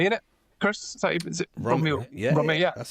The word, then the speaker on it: Romy: Chris, is it Romy?